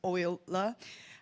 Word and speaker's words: Euler: So yeah, let's move on to the fourth challenge posed by Patricia from Euler Finance.